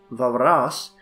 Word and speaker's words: Walras: walrus the French economist I own Varis pronounced varas has been held by